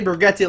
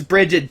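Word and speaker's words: Brigette: I know you're expecting me to see Brigetti, and I still want to say Brigetti like Mom Spaghetti. Like, whatever. Mom Spaghetti, Brigetti. But I know it's Bridget. Don't worry. I know, guys.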